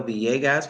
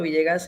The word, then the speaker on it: Villegas: vasas I forgot they they pronounced the two L's like a y so vas like a Y correct St so we have Vias from quaria and they